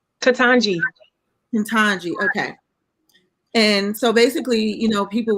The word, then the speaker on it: Ketanji: How do you pronounce her name? Ketanji.